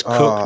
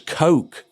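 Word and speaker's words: Koch: It's Cook, not I was thinking it was Coke because of course the Coke brothers are spelled the same, aren't they? So, um yes, but it's Cook apparently.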